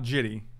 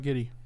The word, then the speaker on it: Jitte: guess first of all you beat egypt by pronouncing it correctly is it jitte is that you supposed to arrive judy no not jitty what about giddy yeah giddy what about did you do any